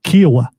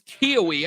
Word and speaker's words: Kiowa: The correct pronunciation of is Lake Kiowa. Kiowa, okay. There we go. There we go. So I started with that. I got told it was Kiowee. I switched to that, but I believe that